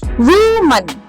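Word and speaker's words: woman: so happy that's right it's वुमन वुमन वुमन okay now the moment is अ वुमेन इट सो odd they will catch you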